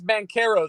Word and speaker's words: Banchero: okay yeah ben what i think it's bankero i think the h is silent i'll just say paulo